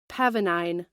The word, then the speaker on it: pavonine: Pavonine. Yeah, pronounced it correctly.